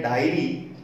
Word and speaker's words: dairy: लेकिन स्पेलिंग में छोटा सा फर्क कर दिया जाए, आई को अगर बाद में लिखा जाएगा DAIRY तो उसका उच्चारण होगा डेयरी, जिसका हिंदी मीनिंग होता है दुग्धशाला।